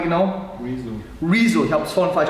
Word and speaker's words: Rezo: Rezo. Ich habe es vorhin falsch ausgesprochen, dafür Entschuldigung, Rezo.